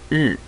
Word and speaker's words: 日: In Chinese, the pronunciation is 日.